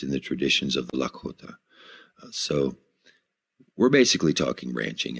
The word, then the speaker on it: Lakota: and non-native cultures and this is the correct pronunciation of the word Lakota and it basically means an alliance of friends